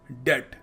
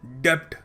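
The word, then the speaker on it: debt: अगला शब्द है डेड। डी ई टी। इसको ऐसे प्रोनाउंस करते हैं। जो बी लगा हुआ है ना वो साइलेंट है। और लोग क्या बोल देते हैं?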